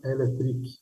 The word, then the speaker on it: Electric: E hoje a gente conversou com o José Carlos Araújo, da Tramontina Electric. Essa pronúncia, né? Não é elétrica. Exatamente, Electric, com Carlos, sim.